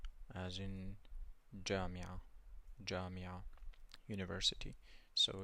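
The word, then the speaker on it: جامعة: You have jim, and it's pronounced j, as in jamia, university. So it's pronounced j, jamia, jamia.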